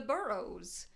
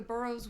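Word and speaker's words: Burroughs: They're not um in a position of power or authority, but they're just like, "Oh, like that's uh uh those the burrows." Um, it's spelled uh B U R R O U G H SS.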